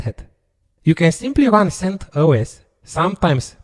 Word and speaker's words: CentOS: You can simply run CentOS, sometimes pronounced CentOS, which is another Linux distribution completely free based on Red Hat Enterprise Linux.